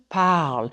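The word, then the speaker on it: parlent: parlez ill pal L Powell and yes the ENT is silent to determine if you're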